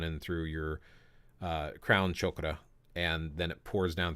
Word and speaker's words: chakra: is but it's pronounced chokra chokra so it's not chakra it's chokra but your crown chokra